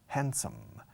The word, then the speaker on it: handsome: Handsome. Handsome means guapo. Handsome. Guapos dividendos. Handsome, hand como hand and some, algunos, como mano, algunos. Handsome. La D apenas, o no se pronuncia, yo no lo pronuncio.